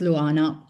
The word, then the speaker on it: Luana: and my name is pronounced Luana.